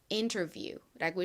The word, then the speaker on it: interview: 가장 앞부분인 부분에 강세가 있습니다. interview.